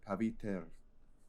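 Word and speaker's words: Pavitr: Um, But I looked up a pronunciation thing, and it's pronounced paviter.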